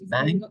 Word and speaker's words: bank: In this case, we don't pronounce this sound. So the difference here is bank, and here bang.